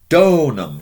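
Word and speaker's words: donum: word from Signum Signum next one donam notice a long o donam a gift what's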